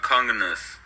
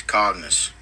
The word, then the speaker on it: Cognus: conus who Darth conus probably probably not pronouncing that right probably not is it communist no it's c o n g n u s Darth c o n cognus cognus it's cognus Darth cognus you're good